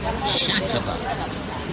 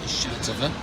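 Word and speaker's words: Xàtiva: we are in shatava and I think that's the way you pronounce it shatava and um we are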